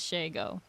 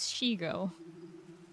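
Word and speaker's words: Shego: Nobody says Shago. Her name is Shigo.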